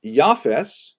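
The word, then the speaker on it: יפת: uh three sons and I should pronounce that by the way in the Ashkenazi pronunciation the office and then yafes who is typically associated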